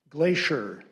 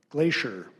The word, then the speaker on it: glacier: Glacier. Glacier. Alternate pronunciations. Glacier. Very little difference here. Or glacier. This word came from French, which formed it from a Latin word.